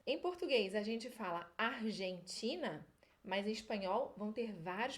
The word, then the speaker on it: Argentina: vai ser hum hum Esse é o som do g e j em espanhol é um som mais aqui pro fundo da garganta Então essa primeira parte aí agora juntando essas duas sílabas ficaria Argan argan e agora o que a gente lety em português a gente vai ler ti lembra do nordeste do Brasil o som e City argentina argentina Essa é mais complicadinha